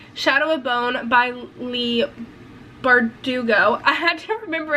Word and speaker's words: Bardugo: six of crows by Leah Bordeaux I don't know if I'm pronouncing that right I feel like I'm not B bardugo bardugo Lee bardugo yes so I bought this